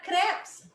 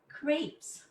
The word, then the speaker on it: crepes: date is the valenciana the valenciana and the crabs or for some of you the crepes i